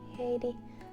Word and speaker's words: Heidiy: And the reason why I say it like hey DIY is because my name is pronounced Heidiy, not Heidi, it's Heidiy.